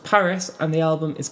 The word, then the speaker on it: PVRIS: say is called Bruce what I believe is pronounced Paris and the album is called Evergreen yeah another Will Young song Oh any preconceptions of Paris nope never even heard